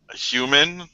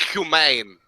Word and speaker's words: Human: Sure thing, Mr. Human. Haha, very funny. It's pronounced humane.